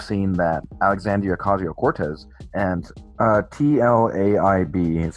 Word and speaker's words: Tlaib: Tlaib. Okay, so is that how you pronounce it?